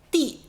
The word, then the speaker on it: 地: 接下来这个读音地，地，你喜欢我们生活的地球吗？